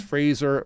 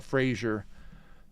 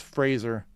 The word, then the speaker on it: Fraser: going by Sunday night you got to pronounce that with an S it's Fraser River Valley it's not Frasier sometimes I get tongue twisted and I'll say Frasier but it's Fraser and Seattle uh let's